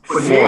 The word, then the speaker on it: Fournier: I must say, you are pronouncing that man's name so wrong. It's Fournier.